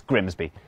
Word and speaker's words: Grimsby: But what if we told you it was pronounced Grimmies? We'd be lying. It's Grimsby.